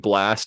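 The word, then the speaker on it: Blxst: Blast.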